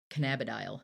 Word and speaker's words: cannabidiol: So CBD does a whole lot, and it's CBD is short for cannabidiol. yeah, cannabidiol, Cannabidiol. I cannabidiol, put the wrong emphasis on the wrong syllable.